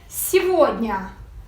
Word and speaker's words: Сегодня: Сегодня. Burası dikkatli olun. Его diye okunuyor.